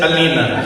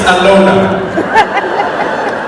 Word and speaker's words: Alona: She said, Alina. He went, actually, it's Alona.